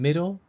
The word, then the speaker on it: middle: letter i number one the i in Middle matches the rule for the short I sound and thus takes the